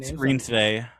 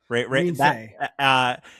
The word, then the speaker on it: Reinsve: Reinsve. Reinsve.